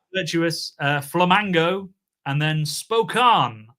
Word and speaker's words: Spokane: Uh flamingo and then spokan I believe it's pronounced although I've already in the uh green room said spcane spokan spokane all the variations but I believe it's spokan.